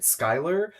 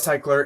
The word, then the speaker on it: Cyklar: famously filmed an entire video calling it Skyler, and you're never going to see that video because I said it wrong the entire time. When I first heard about Cycler, it was actually from